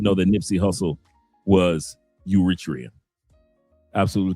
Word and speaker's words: Eritrea: that Nipy Hustle was Uritria. Absolutely correct. He said he's pronounced Aratria or Eratria.